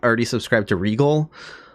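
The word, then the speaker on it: Regole: not already subscribed to Regal, that's Regal spelled R-E-G-O-L-E. Not, it's pronounced like Regal but not spelled like Regal as in royalty.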